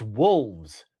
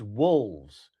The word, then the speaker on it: wolves: It's wolves. There's an L. It's wolves.